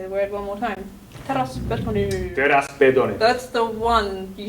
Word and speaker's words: Teräsbetoni: You say teräs. Teräs. Teräs. Can you say R? Yeah, that's I kind of have a problem with that. Teräs. Yes. Better. Betoni. Betoni. Betoni. Very, soft. B.